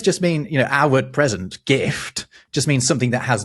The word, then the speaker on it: gift: In German and Swedish, the word gift or gift, as it's pronounced in Swedish, means not something pleasant you give someone, but poison.